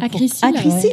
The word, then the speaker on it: Acrysyl: Acrisil. Ouais. On peut le prononcer.